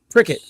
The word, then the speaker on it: Pickett: Pricket. Or was it Pritchard? How's he pronounced? Is it Pricket or Pritchard? It's Pricket. Pickett.